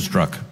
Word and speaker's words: Strzok: I wanted to get the pronunciation right. I've heard it about 5 different ways today. Strzok, is that? Strzok.